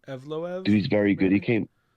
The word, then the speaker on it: Evloev: How do you pronounce his last name? Evloev.